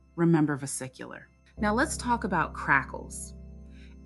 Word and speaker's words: vesicular: Pronunciation, vesicular.